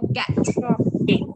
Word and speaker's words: get: Get. Get. Get. Get. Đấy. Đúng không? Cái cổng mà nó không đọc là ghét. Ghét ghét không phải thế mà là này.